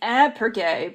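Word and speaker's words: iPrEx: went into the pronunciation so ipergae actually stands for an intervention so it should be ab per gay but i don't think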